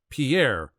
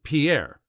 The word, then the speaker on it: Pierre: capital of South Dakota Pierre wrong she kept saying Pierre two syllables like the French name and he said it was Pier one syllable like what you fish off of